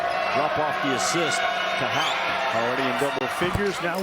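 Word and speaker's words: Haugh: off the assist to Houck. Already in double figures, now with a dozen. And it is Houck if you're watching this. I know it's spelled H-A-U-G-H, but it is pronounced Houck.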